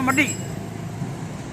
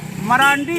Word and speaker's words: मरांडी: और ये मडी जो एक्चुअल है हॉट भाषा में मडी, मेरे कहने का मतलब सुप्रीमो बाबूलाल मडी, जिसको हिंदी प्रोनाउंसिएशन में मरांडी बोला जाता है, मडी को उड़िया प्रोनाउंसिएशन में